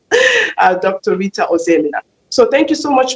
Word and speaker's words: Ozoemena: That's the Nigerian way of pronouncing it. Dr. Rita Ozoemena.